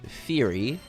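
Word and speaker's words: Ferry: doing I'm playing this character called Fury that is that's how it's pronounced and the reason I've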